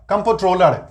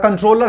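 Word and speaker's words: comptroller: Generally हम बोलचाल में इसको द कंट्रोलर कहते हैं, बोलचाल में यूजुअली द कंट्रोलर कहते हैं। बट यहां कंट्रोलर नहीं है, कंप्ट्रोलर है। यहां पे कंप्ट्रोलर है, कंप्ट्रोलर COM है, CON नहीं है।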